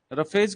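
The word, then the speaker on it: roughage: रफेज की spelling में पी कभी नहीं आता है, ध्यान रखना ही, ROUGHAG। ठीक है ना, रफेज।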